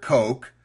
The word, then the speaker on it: Koch: William Frederick Koch pronounces his name to rhyme with joke.